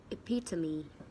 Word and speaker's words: epitome: I decide to give you is the word it Pizza me it Pizza me this one is normally mispronounced like epitome that is not epitome it